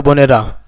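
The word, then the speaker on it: ب: বা উচ্চারণ হবে দুই ঠোটের ভেজা অংশ থেকে।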